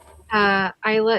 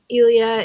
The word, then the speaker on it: Elia: Isla is totally wrong. Elia is the way to pronounce it.